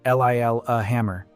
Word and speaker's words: Lillehammer: The place is Lillehammer, pronounced l i l uh hammer, and the year is 1973.